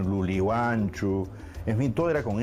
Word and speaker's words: Lurigancho: era Maranga, sino Malanja, Lurigancho no era Lurigancho, sino Lulihuancho, en fin, todo era con L, porque había un sustrato aymara que influía en el quechua de la zona.